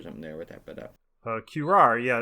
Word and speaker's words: curare: cat, which is with its claws dipped in curare.